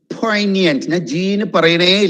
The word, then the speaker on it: poignant: don't leave too many poignant poignant i'm not emphasizing on g at all right poignant means a